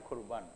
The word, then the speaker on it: 고르반: 하는 말은 이것이 있는데요이 고르반이라는 말은 이게 둘이 똑같은 말이에요 발음을 히브리어로 이게 코르반이에요 코르반 이게 말씀이 이루어서 분리되는